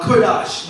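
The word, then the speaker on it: קדוש: a little bit hebrew it for holy is pronounced uh kurdash meaning to set apart sacrifice for the work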